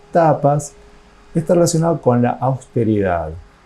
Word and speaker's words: tapas: El tercer concepto de los niyama, que en sánscrito se pronuncia tapas, está relacionado con la austeridad.